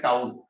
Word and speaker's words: tau: Tilt करके बनाते हैं, और इसको प्रोनाउंस करते हैं टाउ। इसको टाउ प्रोनाउंस करते हैं, TAU है टाउ।